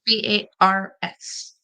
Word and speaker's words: BARS: how to say it I thought it was B no it's B A RS oh bars bars okay I thought it